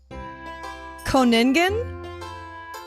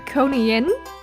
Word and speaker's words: Koningin: milk, and now I just want to know how you pronounce this word. Oh boy. Koningen? Oh my goodness, it's so cute. It is Koningin, which means Koningin?